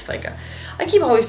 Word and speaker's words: FICA: or FICA sorry it's FICA I keep always saying I want to say f but it's I think it's pronounced FICA and apologies for the